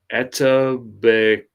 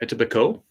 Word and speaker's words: Etobicoke: It's Etobicoke. It's literally a silent K. Etobicoke.